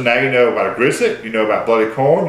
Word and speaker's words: Grisette: It's a double T. It's Grisette.